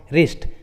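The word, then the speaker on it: wrist: शुरू में रहता है, तब डब्ल्यू का उच्चारण नहीं करते, जैसे राइट, रिंग, रॉन्ग, रिस्ट।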